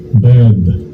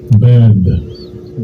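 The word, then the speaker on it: בד: And it says, this is how you say it in Hebrew. Strongs H905. Bad. Bad. Bad. That's how you say alone in Hebrew.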